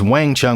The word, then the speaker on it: Wang Chung: They later respelled it as Wang Chung with a W so people could actually pronounce it.